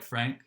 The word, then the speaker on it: Franc: It's spelled like Franc, but pronounced like Frank.